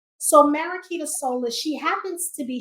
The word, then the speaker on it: Mariquita: Mariquita. Mariquita.